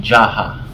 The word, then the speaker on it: JHAH: aramco health care or yung jaha jh a yan jaha ang bigkas namin diyan so jaha This is